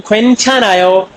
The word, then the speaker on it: 괜찮아요: ये नियन हियत है ना, तो हियत साइलेंट हो जाता है, आगे नियन ऊपर चला जाएगा यहाँ पे, तो 괜찮아요 जो है ना वो इट्स ओके, कोई बात नहीं।